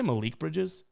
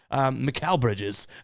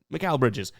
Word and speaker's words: Mikal Bridges: Did I say that? Mikal Bridges, who we've taken a ton. So obviously I know his name, but I can barely pronounce my own first name. But yeah, I don't. Maybe I didn't say Malik, but I think I did. Mikal Bridges, correction there.